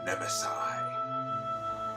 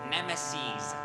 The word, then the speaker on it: nemesis: it isn't my old nemesi you are a new incarnation of a villain I killed last year we cannot be old and the word is pronounced Nemesis can't you just give